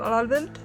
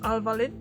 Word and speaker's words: al-Walid: part of Khalid ibn al-Walid. Oh my god, I said it wrong again. Khalid ibn al-Walid. No, there's no W there. It's silent.